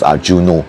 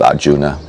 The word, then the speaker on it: Arjuna: text now over here may often hear it pronounced as arjuno that's a Japanese pronunciation but the original uh Indian pronunciation is Arjuna now normally at this time of the year